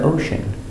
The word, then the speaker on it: ocean: So remember, they are at the beach and they are in the water, in the ocean. Pronunciation, ocean. O. Sh. Osh. E. Oshe. N. Ocean. Pronunciation, ocean.